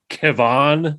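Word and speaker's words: Kevan: Kevon Smith, who I think is still that playing. Doesn't ring a bell at all. Pronounced Kevin, but he spelled it Kevon.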